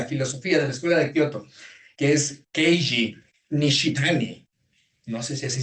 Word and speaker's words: Keiji: filosofía de la escuela de Kyoto, que es Keji Nishitani, no sé si así se pronuncia. Keiji.